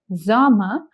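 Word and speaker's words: Sommer: Okay remember to not stress on the r too much at the end their zama and which is from uni to august that is from June to August.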